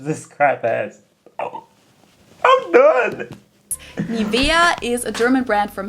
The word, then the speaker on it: Nivea: English native speakers usually say Nivea, Nivea. In German, we say Nivea. Nivea. So the emphasis is on the E.